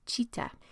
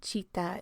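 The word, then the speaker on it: citta: We've got Dolly Parton-style frontal lobes, which results in an experience that yogis will know as chitta.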